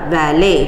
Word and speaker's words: valet: out to be the valet it is pronounced as vale v a l e t